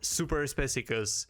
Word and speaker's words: Superspecicus: Well, to give you the knowledge locked up behind the generations, it's pronounced super speeus.